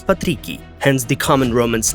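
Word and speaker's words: patricii: The original pronunciation is patrici, hence the common Romance names, which later became Christian among different peoples of mostly Western Europe, Patrick or Patricia.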